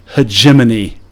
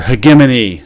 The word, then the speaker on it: hegemony: trying to establish that hegemony, or hegemony. I know some people pronounce it hegemony, or hegemony. Hegemony.